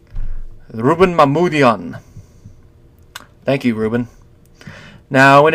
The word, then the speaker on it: Mamoulian: Mamoul, the first part sounds right. Jan. Rouben Mamoulian.